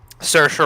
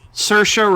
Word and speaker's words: Saoirse: Saoirse Ronan. Saoirse Ronan.